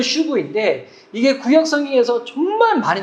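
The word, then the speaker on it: שוב: 발음은 슈브인데 이게 구약 성경에서 정말 많이 나오는 단어예요.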